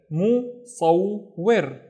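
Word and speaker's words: مصور: Alright, so we have to pronounce the wa twice. The first syllable is mu, and then saw. Saw, don't forget to pronounce the wa, saw, and then wir, wir, musawwir, musawwir, which is a photographer, musawwir.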